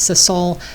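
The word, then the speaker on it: sisal: I just got some I believe it's pronounced sisle s i s a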